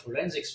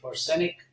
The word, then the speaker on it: forensic: officers, nobody knew what forensics was. In fact, uh they wouldn't even pronounce it correctly. you know, they would say forenic instead of forensic or they would say